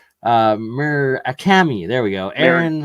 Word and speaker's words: Murakami: I can never pronounce his last name right. Murakami. There we go. Aaron Murakami.